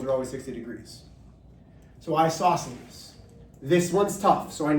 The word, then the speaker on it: isosceles: Then we get to the third one, which is spelled isosceles, which is how I'll say it, but it's an isosceles triangle.